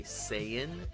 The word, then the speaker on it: Saiyan: Uh, I'm pronouncing it according to the Dragon Ball Z animated show. They they say Saiyan. S A I Y A N. Saiyan Pride. So, uh, just so you know, that's how you pronounce it.